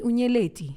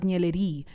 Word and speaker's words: Nyeleti: The worst they could make my name sound is Nyella D, but it still sounds like my name.